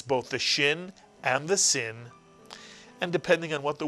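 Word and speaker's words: שׂ: or the left-hand sail, It is the Hebrew letter sin, and it's pronounced S, the same way you would pronounce the Samech.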